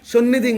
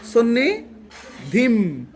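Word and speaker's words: সন্নিধিম্: সন্নিধিং বলছো, সন্নিধিং। অনুস্বর যেটা আছে এটাকে মর্মত করে উচ্চারণ করতে হবে না? কি বলতে হবে? সন্নি ধিম। কি? ডিম।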